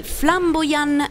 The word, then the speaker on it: Flambojan: Oggi vi parleremo di Flamboyant SRL, detto giusto? Corretta, sì, la pronuncia?